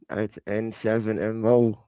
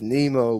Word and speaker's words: N!MO: Devin be pronouncing the shit just Nemo, but I would say it's N7MO.